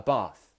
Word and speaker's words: Bath: Now, in the north and in the south, we pronounce these words differently.